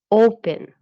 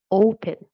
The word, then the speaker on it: open: For example, open. You can see that the last syllable is not stressed. You say open, not open.